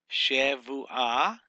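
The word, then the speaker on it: שבועה: So Shavu, this is a soft vet. This is a vet. Instead of a bet, it's a vet.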